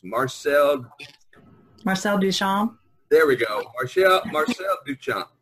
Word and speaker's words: Duchamp: you say that artist name it's Marcel Marcel Duchamp there we go Marcel Duchamp Duchamp and there